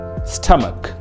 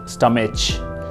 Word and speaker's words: stomach: fifth one is stomach stomach it's not stomach it's stomach i hope you've got it